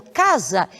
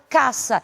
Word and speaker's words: casa: Sendo assim, uma palavra como essa, nós nunca vamos pronunciar como casa, e sim será caça.